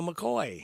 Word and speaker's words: McCoy: All right, speaking of Roy, this rhymes with Roy. It's Neil McCoy.